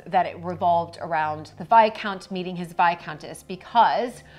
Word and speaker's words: viscount: Bridgton decided to make this season all about VI count and VI Counce and getting obviously the pronunciation um letting the world know well maybe